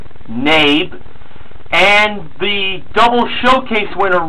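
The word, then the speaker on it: Knabe: Number one, the brand of piano and freeze frame, I pronounced it as Nabby, it was actually just pronounced Nabe.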